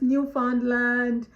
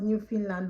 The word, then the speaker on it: Newfoundland: Some people call it Newfoundland, but it's actually pronounced Newfoundland by Canadians.